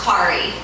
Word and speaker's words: Corrie: you've got a good start here and it's pronounced kari by the way okay um i have four